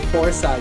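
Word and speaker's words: Fourside: you say or sign no you say you say four side because it's like the numbers i know i was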